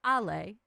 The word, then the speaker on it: Allay: My name is pronounced allay and I always tell people open your mouth say ah eat a bag of laid chips because I'm either